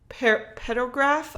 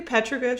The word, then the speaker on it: petroglyph: How do you say it? Petrograph? Oh my, that's Petroglyph.